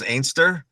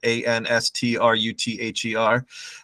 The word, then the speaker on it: Anstruther: You can, I guess, Scots pronounce Anstruther as Ainster, but it's spelled, if you pronounce it out, Anstruther.